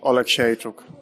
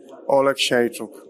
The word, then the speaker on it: Oleksiejczuk: Michał Lord Oleksiejczuk. Michał Lord Oleksiejczuk. Just like it's spelled. Yep. Yeah, just like it's spelled. OLEKSIEJCZUK. That's simple, guys.